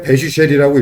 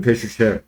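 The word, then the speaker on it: bash: 그래서 이걸 읽을 때 배슈이라고 읽어요. 이스 기본은 배슈.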